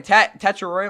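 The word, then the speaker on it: Tetairoa: Teter. My bad. Again, that's how he wants to pronounce his name. My bad. I'm going to call him Tat, but again, he wants to be called Teter McMillan.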